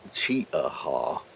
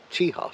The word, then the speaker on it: Cheaha: saying it wrong apparently it's not cheat aha State Park it's chiha State Park I'll probably say it